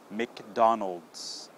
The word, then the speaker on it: McDonald's: Mick okay now the second part the middle part is dawn dawn okay like the name dawn okay and the last part is olds olds okay like old and then just add the s so when you put all three of those together you get Mick dawn old McDonald's yeah try that one